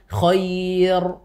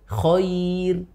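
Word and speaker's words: خير: fathah atau kasrah y misalkan koir Oh ya Iya jadi kan kir itu kita tidak membacanya dengan koir tapi kir tipis Oh iya rnya tipis ya iya misalkan eh Dir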